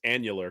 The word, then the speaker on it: annular: any further it's not it's not angular i mean it's annular confinement which means well now it's angular oh now it's see it was originally angular but then people just kept mispronouncing it so now they roll with it the annular confinement beam